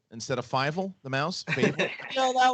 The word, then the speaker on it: Fievel: By the way, you're starting to be one of my favorite people to pronounce names next to me and JTE. Yesterday on FCL, what did you call him? Favel instead of Fievel, the mouse?